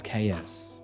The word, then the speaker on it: Caius: his name for example Caius can also be pronounced as chaos but it seems that most of the courtroom footage pronounces it as Caius which of course doesn't